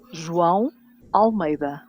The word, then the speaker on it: João Almeida: João Almeida.